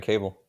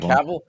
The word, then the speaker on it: Cavill: Yeah, I forgot about Henry Cable. I hate how you said that name. Is it? I've never. I pronounced it completely wrong. Is it Cavill?